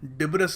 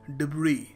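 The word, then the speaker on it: debris: है वो है तो यहां पर डिबेस नहीं है मेरे भाई यह है डिब्र डिब्र यह देखिए वर्ड काफी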